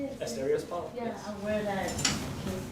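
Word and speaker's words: Asterios Polyp: Asterios Poly?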